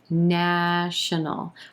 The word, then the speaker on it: national: black vowel sound national our second and third syllables are going to be very quick in contrast to that emphasized first syllable national national we've got an inconsonant into the dark l sound at the end of this word no no national she's